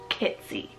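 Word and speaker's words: Kitsea: sounding and it's the name kitsy spelled k-i-t-s-e-a kitsy guys this is so cute you can do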